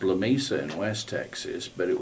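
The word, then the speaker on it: Lamesa: but it was in a community called, it's pronounced La Mesa in West Texas, but it was within an hour's drive of where she lived in Odessa.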